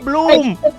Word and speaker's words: Blume: How do you say his name? Just like that. Blume.